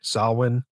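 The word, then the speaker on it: Samhain: there celebrating what is it how do you pronounce it properly JJ salwin salwin yep salwin yeah that's not a thing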